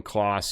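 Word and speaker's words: Claas: The only difference is this cloth class, however you pronounce it. I pronounce it class. That's the way I've always been told.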